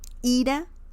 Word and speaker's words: ira: Ira means anger. And the pronunciation is a bit different too. Ira, anger. Ira, will leave.